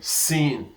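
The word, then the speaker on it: سين: Now sin is spelled sin, S-E-E-N, sin. And this sin now, in the English equivalent, is just like what? Just like somebody talking about C.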